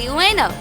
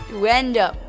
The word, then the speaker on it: Uendo: Exactly, and the person who rearranged the cards was undoubtedly Ueno. Uendo. I have said his name wrong this whole time.